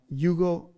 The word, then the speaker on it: eulogeo: The word blessed there is the Greek word eulogeo.